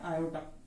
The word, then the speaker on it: iota: एक होता है आई, अपन इसको मैथ्स में यूज करते हैं और इसको प्रोनाउंस करते हैं आयोटा।